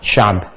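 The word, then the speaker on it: شعب: di teorinya sederhananya begini Kalau kita kemudian membaca ini sya'bun kemudian kita akan berhentikan biasanya ditarik ke ke sini ya ke sebelumnya dan diganti dengan harakat yang mudah untuk diucapkan misal syaab gitu kan jadi seperti mengucapkan fathah syaab ya ini sering diartikan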